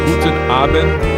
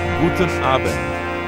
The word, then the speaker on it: Guten Abend: Guten Abend is the right way to say it. I'm learning. Guten Abend.